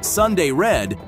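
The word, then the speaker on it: Sun Day Red: of the brand itself despite being pronounced as Sunday red it's spelled out as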